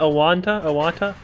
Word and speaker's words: Owatonna: Owatonna.